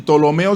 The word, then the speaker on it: Ptolomeo: Magno los ptolomeos los y tolomeo se escribe con p comenzando ptolomeos con p y se escribe ptolomeos pero la p va adelante y idas cdas tien